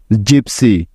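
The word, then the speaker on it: gypsy: পি এস ওয়াই জিপসি তো দেখো এই শব্দটির প্রথমে আছে জি তাই জি এর পরিবর্তে এখানে নিতে হবে জন লক্ষ্য করলে দেখবে যে এখানে জি এরপরে ওয়াই আছে তাই কেননা এটাই হলো জ হওয়ার নিয়ম তাইতো তারপরে ওয়াই আছে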